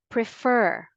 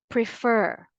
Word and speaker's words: prefer: two words refer refer prefer prefer whether you use the American English pronunciation or the British English you give a greater force or you put the stress always on the second syllable again say it with